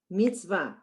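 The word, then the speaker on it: מִצְוָה: So we have mitzvah. That's the word, right? Mitzvah. Now we have And they're showing that sari, that is a silent schwa. It's the end of the syllable. There's no sound.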